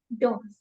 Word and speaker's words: don't: Similarly डू नॉट नहीं होगा, डोंट. Make it your habit to speak I don't know, I don't know. T silent. T को sound ही मत करिए, इसको जरा हल्का छोड़ दीजिए.